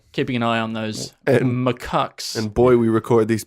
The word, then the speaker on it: macaque: Mack the the Japanese macaque yes all macaques we haven't got to the bottom of how that's pronounced I think it's macaque by that we haven't